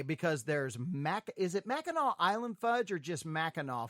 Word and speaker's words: Mackinac: to be up in the u.p uh called mackinaw which does not look like it should be pronounced like mac it looks like mackinac it